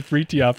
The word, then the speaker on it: Fritjof: But yeah, the correct way to say it is Fritjof.